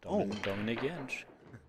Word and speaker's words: Dominik Jentsch: I'm not sure what's the correct pronunciation. You just said it, Dominik Jentsch.